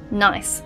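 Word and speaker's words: gneiss: between the indigenous rock called nice with a silent G and then over thousands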